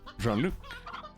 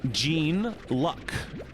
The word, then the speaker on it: Jean-Luc: And they pronounce it as Gene Luck, because it's L-U-C.